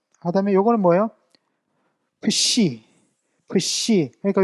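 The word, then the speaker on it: ψ: 푸시. 그러니까 요것도 이제 피읍과 시옷이 두 발음이 다 이렇게 한 번에 이렇게 뭔가 푸시케 할 때 이제 요런 식으로 나온다는 거죠.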